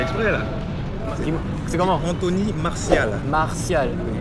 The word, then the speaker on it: Martial: Anthony Martial. Martial. Le T, ça se prononce comme un S. S. Dans le nom.